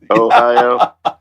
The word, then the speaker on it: Ohio: Ohio?